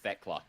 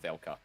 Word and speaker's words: Thekla: I think it's pronounced Thekla, not Thelka.